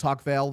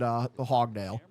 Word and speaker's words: Huckvale: go get him, like mispronounced our last name, which is Huckvale. They said Hogdale.